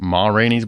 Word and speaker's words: Ma: the Oscar went to Morin's black bottom isn't it Mar's black bottom ma yeah did I say it wrong you just said it like a whole word oh morines like it's French my bad my bad